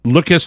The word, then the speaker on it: Loques: Loques like rhymes with Tukus?